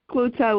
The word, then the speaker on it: Cloete: Her name is spelled Cloete. I hope I said your last name correct. You did. You did good. Great. Thanks. Folks, information about Lizette Cloutop will be in the